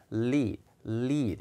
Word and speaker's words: lid: 조금 놓치기 쉽다라고 했는데 이 뚜껑을 얘기할 때는 발음이 약간 길어요. lead 이렇게 있는 게 아니라 lead 약간 길어요. 그래서 the woman is holding up the lid of 이렇게 소리가 the lid 약간 길어집니다.